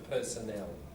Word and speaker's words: personnel: you're referring to staff in a company the personnel and then oh I have a personal problem